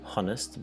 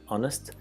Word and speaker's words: honest: Remember, it's a silent H, not honest, but honest.